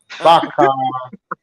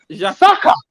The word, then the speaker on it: Saka: What the guy named that comfort that does one fan thing he rhyme with him. Oh, he named Baka. Baka. Saka.